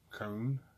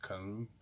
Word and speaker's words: Kühn: out all on a bomb and that is come it's K u h en but it's pronounced come it's the German word meaning both doing audacious